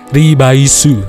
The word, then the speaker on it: Revice: Kalau teman-teman tahu Revice itu, kalau kita pronounce ke bahasa Jepang, penyebutannya itu jadi Ribaisu ya, Ribaisu.